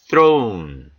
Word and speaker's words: throne: throne, throne. th 사운드는 요 th는 무성음입니다.